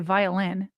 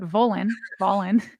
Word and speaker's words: Volin: And then Ben, I want to say violin, but Volin, very well respected reporter for the Boston Globe, by the way.